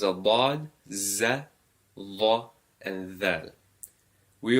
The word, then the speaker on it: ض: So you can pronounce it as Dad. So you're raising the tongue up and to the side.